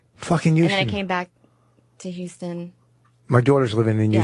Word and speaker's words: Houston: you tonight and rich rich pronounces it euston you sure that's the same place right you do the H so I think that's how half and half I guess Houston my daughter lives here now he